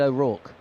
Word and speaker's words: O'Rourke: My pronunciation of Will O'Rourke, does it sound funny to you? Is it wrong? Yeah. Yeah. Because we've had a few comments. you just think of like Mickey Rourke.